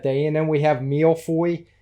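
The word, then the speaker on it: Millefeuille: And then we have Milfoy. Did I say that right? I can't remember how you pronounce it. I think you got it right.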